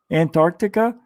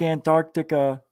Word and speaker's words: Antarctica: The C is silent. I know. Antarctica. If you ever hear me say it, I say it that way. I can't help it.